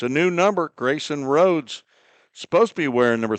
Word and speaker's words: Rhodes: Sets the stage for a save situation for Grayson Rhodes, Grayson. Rhodes has a silent H in there just for the fun of it.